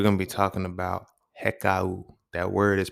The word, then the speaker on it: Hekau: And today, as you seen from the title, we're going to be talking about heeka. That word is pronounced heeka. H e k au.